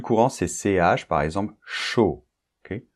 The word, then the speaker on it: chaud: c'est ch par exemple chaud ok chaud et attention c'est pas ch chudok pour former le son